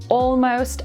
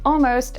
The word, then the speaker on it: almost: This is why words like already, almost, and all right often sound like already, almost, and all right when they're said quickly.